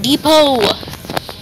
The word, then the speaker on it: Depot: Mommy, what is the Home Depot? Home Depot! Why is our T? Because the T is silent.